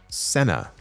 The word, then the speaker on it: cena: The uh Uffman says, "Cena does indeed mean dinner in Spanish, but it's pronounced Senna."